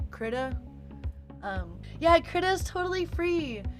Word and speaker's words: Krita: one, which is called Krita. I think it's actually pronounced Krita.